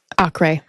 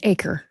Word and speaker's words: Acre: Acre. Also known as Acre by the Americans. Right. But it's Acre. Yeah, spelled like acre.